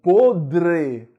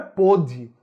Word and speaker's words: podre: pronunciar o adjetivo podre, existe um R aí, né? Não é pode, né? Como muita gente diz, rapaz, eu comi uma fruta, a fruta estava podre. Olha, não estava podre, estava podre, né? Então você tem que colocar o R, não pode esquecer de colocar o R.